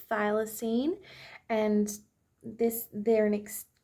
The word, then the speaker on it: thylacine: had to quickly look this up so it's pronounced thylacine and this they're an ex extinct um marsupial